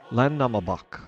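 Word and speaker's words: Landnámabók: Once we have completed the Land Nam Land Nambbach, Land Namabak, I think is how it's pronounced.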